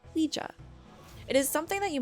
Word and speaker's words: Ouija: For those who do not know what the Ouija board is, it's spelled O-U-I-G-A, but pronounced Ouija.